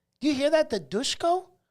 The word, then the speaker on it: Dushko: you hear that the dushko dushko it's not doucheco it's dushko but i'm like that's it's so weird there's no h there so i don't understand why we're pronouncing it nonetheless i don't know